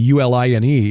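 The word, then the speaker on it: Uihlein: Uline family yeah it's it's not spelled like the company UL i n e it's but it is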